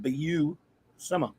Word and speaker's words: Buscema: you know like Sal busemma is that am I pronouncing it right when he actually appeared in a Nova comic that he drew he pronounced it for now they said be you simmer oh okay although although